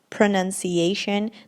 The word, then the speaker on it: pronunciation: Some people say pronunciation. Yeah, that's the mistake most of my students make. They say pronunciation. It's not pronunciation, it's pronunciation.